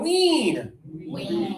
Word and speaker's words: wean: Oh, long explanation for an uncommon word, but this word is high tongue, everybody. High tongue, wean.